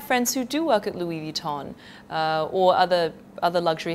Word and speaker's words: Louis Vuitton: and I have friends who do work at Louis Vuitton uh or other other luxury houses like that and they complain know when they hear somebody say call it Louis vuon instead of Louis Vuitton they actually they I mean they're quite hurt